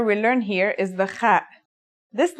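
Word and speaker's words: خ: Kha is a sound some people make when they laugh. It's also similar to the sound people make when they snore. According to phonetic charts, Ha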